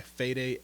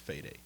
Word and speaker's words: Fede: written and directed by fed Alvarez I think his name is pronounced fed but before we get